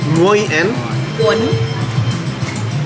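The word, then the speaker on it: gỏi cuốn: How do you pronounce this? Goi. Goi. Goi. Goi. Goi and? Quan.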